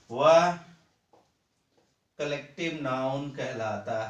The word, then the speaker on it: collective: कोलेक्टिव noun, ठीक है। कोई कोलेक्टिव नाउन कहता है, कोई कलेक्टिव, लेकिन सही इसका प्रोनाउंसिएशन है कलेक्टिव नाउन। क्या? कलेक्टिव नाउन, कंठ से निकालें, कलेक्टिव नाउन, कोलेक्टिव नहीं, कलेक्टिव नाउन, ठीक है।